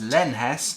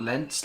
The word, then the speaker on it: Lenhes: to pronounce his name it's len hess not lentz like i pronounced it last time sorry about that